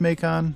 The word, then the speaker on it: Macon: to check it out I I think it's pronounced meon someone correct me if that's wrong but Fort makon is